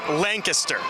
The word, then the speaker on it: Lancaster: It's pronounced Lancaster.